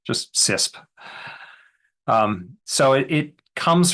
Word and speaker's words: CISSP: But I usually just pronounce the whole thing as a single syllable just CISP.